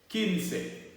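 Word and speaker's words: quince: you say 15 in spanish you would say kinsey all right so last now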